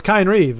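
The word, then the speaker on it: Kynesgrove: It's Kine Reeve.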